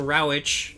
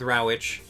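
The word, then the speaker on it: Rawitsch: thing deal with it so in 1971 Don Ravitch I think that's how you pronounce his name Don brauch it's Rawi T SCH so I'm going with Ravitch well he was a senior at Carleton College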